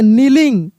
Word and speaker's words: kneeling: तो यहाँ पे क्या लिखा है कि याद रखने वाली बात क्या है कि शब्द की शुरुआत में KN हो तो के को नहीं पढ़ते हैं, सिर्फ एन का साउंड आता है।